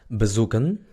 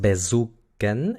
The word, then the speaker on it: bezoeken: Luego tenemos bezoeken. Bezoeken. Hemos visto anteriormente que la E muda se pronuncia cuando no está en la sílaba tónica. Entonces no es bezoeken, es bezoeken.